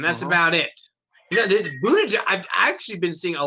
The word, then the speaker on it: Buttigieg: You know, Buttigieg. I've actually been seeing a lot of commercials for Buttigieg or Buttigieg or however you say his name. Buttigieg. Buttigieg. Yeah, Buttigieg. That's actually the correct pronunciation.